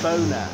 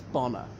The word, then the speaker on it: Bonar: not just law and it's often mispronounced Boehner as in the American Val Garrety which is which is a mispronunciation it's bomber anyway so he was